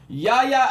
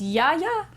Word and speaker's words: Yahya: It's Yaya? Yeah, sure. Yaya. And I love how his Twitter is just Yahya.